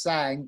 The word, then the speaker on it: Cang: actually so it's a my surname spelt see ang pronounced sang but spell hangs is